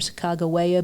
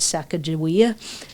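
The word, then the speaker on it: Sacagawea: And I pronounce her name Sak Chicagoa because that's as close to the proper way of pronouncing her name. We all grew up with Saka Jia.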